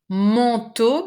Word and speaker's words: manteau: Manteau, because we have this nasal sound, just like in pantalon, double nasal, en and on.